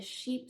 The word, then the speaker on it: Chypre: i was like um i wasn't sure if it's like sheep ray or whatever but my sales associate did say that sheep is how that french word is pronounced and no they did